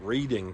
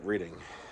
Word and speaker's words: Reading: I would call it Reading cuz that's how it's spelled, but locals pronounce it Reading.